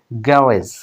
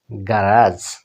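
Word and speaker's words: garage: তারপরে ব্রিটিশে এভাবে উচ্চারণ হতে পারে গ্যারেজ, কিন্তু আমেরিকান স্টাইলে গারাজ কি উচ্চারণ হয়? গারাজ, গারাজ। আর আপনারা জানেন যে আমেরিকান স্টাইলে আর স্পষ্ট উচ্চারণ হয় ভাওয়েলের পরে, গারাজ।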